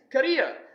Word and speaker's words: career: ruined my career but it is not carrier it is Korea I'm aware that there